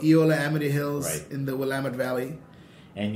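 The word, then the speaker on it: Eola-Amity Hills: a very very famous V how do you pronounce it theola am Hills yeah the appal it's called Eola Amity Hills in the willit valley and you're making predominantly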